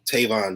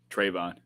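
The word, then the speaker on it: Trevon: so i'm sorry i'm sure i just said his name wrong tavonne diggs right trayvon trayvon okay i knew i was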